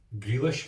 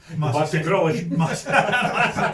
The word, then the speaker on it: Grealish: Grillish. Aye, it's like grill, but not totally grilled. Just grilled-ish, grillish.